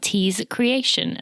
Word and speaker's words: TeeKreation: to tell you about Tease Creation. That is creation with a K.